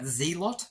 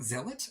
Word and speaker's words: zealot: a l o TS to me you pronounce that zot but anyway apparently it's zeelot and just no word